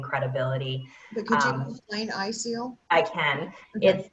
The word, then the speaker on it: ISEAL: Well, April, can you talk about BCI and I may not be pronouncing this correctly, ISEAL? Yeah, sure. It is ISEAL. You've got it right.